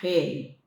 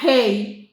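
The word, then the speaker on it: ה: Y la última letra es la letra he letra he como tal no tiene una pronunciación sola. Ella no se pronuncia con la lengua, ella se pronuncia con la garganta y el sonido del aire.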